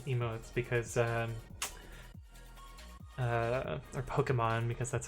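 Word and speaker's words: Pokémon: yes and and uh my bot has the pokeman emotes because um uh or pokemon because that's how it's actually pronounced but i'm gonna call it pokeman that's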